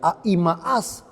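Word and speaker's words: Ahimaas: y dice la historia que a imas así se pronuncia a imaas Se ofrece para llevar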